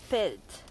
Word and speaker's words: pellete: Et le verbe, c'est pelleter et on prononce « je pelte ». Là, je pelte, je fais semblant de pelleter.